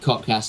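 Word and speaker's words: KOTKS: social media uh k o t KS it's pronounced codcast no no one really knows that but uh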